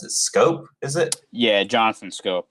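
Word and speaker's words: Schoop: All right, so I don't necessarily believe in how you pronounce it? Scope, is it?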